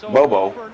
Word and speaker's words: Bobo: Auburn scored like 20 straight points, led by quarterback Mike Bobo. Bobo, did I pronounce that right?